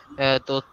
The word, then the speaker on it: তথ্য: এটা হবে, তটা উচ্চারণ হবে অ, অ। আর যখন থয় যা ফলা হবে তখন উচ্চারণ হবে ও, মানে এটা তত্ত্ব, আর ওটা হবে তথ্য।